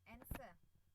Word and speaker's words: answer: Then answer itu bacanya answer enggak pakai W ya.